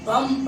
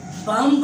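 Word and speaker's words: bomb: तो हम इसको जब प्रोनाउंस करते हैं तो बम पढ़ते हैं, बम्ब नहीं पढ़ते।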